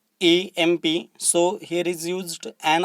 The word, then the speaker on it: MP: However, the pronunciation of that word is EMP.